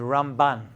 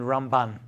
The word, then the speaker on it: Ramban: from ramban yeah ramban the way it's rambam and ramban way you pronounce it's different I learn you Shiva as a kid it's rambam and ramban so when you hear that you know which way it's going okay so that's what